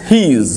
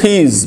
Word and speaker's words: his: This is his book. This is his book. This book is his. Eta thar boy. This book is his. Eta thar boy. His. Eta uchchanta hocche his. Pronunciation is z.